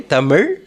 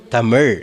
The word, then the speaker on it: தமிழ்: Say Tamil. Tamil, yes. So you have to, pronounce Tamil. And it is spiritually connected. It touches the palate on the top.